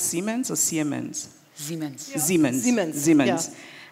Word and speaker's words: Siemens: of understanding with the German company, is it pronounced Siemens or Siemens? Siemens.